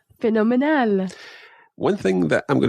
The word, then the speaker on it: fenomenal: And one final one, and that is fenomenal. Fenomenal. Fenomenal. Fenomenal. Another word that sounds quite like an English word, phenomenal, but say it in Spanish, fenomenal. Fenomenal.